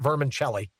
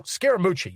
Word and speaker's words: Scaramucci: How's he pronounce his last name? It's not Vermicelli. What is it? Oh, Scaramucci.